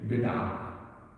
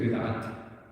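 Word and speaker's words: بدعة: Bid'ah. And when you say bid'at, Arabic bid'ah. We pronounce the ta marbut at the end in many words in Urdu, and in Arabic they don't.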